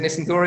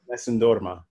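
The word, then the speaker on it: Nessun dorma: Is it Nissandora? Is that how you say it, Brandon? Nissandorma. Nissandorma.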